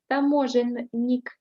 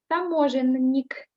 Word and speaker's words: таможенник: You see, in this word, таможенник, we have double N. And we read as double. We don't make them shorter. Таможенник. Таможенник. Таможенник. Try to make it as there are two N. Try to pronounce them so that I can hear that there is double N.